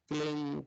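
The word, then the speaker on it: क्लीं: कहना पड़ेगा यस कमन क्लिंग Krishna क्लिंग क्लिंग Krishna क्लिंग एक शब्द क्लिन शब्द क आधा ल में मिला बड़ी की मात्रा और बिंदी उसका उच्चारण हो प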